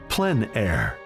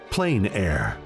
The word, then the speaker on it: plein air: open air or outdoors the french pronounce it plen air others say plain air no matter how you